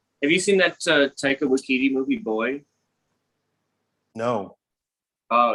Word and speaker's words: Waititi: Waititi movie, Boy?